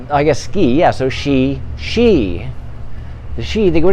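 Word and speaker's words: sidhe: right they're called the the spell is s-i-d-h-e but you pronounce it she but it's not she like a feminine she she in english or sh i because then you might say shy i don't know but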